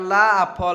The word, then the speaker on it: laugh: अगला मीनिंग हम सभी का है LAUGH, इसको हम उच्चारण करते हैं ला कर, ला फॉर लाफ, ठीक है ना।